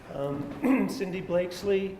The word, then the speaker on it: Cindy Blakeslee: Cindy Blakeslee is, am I pronouncing that right? Yes. Yes. Mm-hmm.